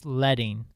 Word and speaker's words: leading: be about spacing so the first word is leting I know it looks like leading but they say the they pronounce it leting in typography so leting is